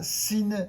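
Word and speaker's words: שׂ: à gauche et bien ça se prononcera sine avec un S bien sifflant Chine sine répétez Chine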